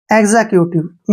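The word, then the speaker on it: executive: ई vowel आया है जब भी एक्स के बाद वावल आता है तो एक्स का उच्चारण गज के रूप में किया जाता है नेक्स्ट वर्ड है ई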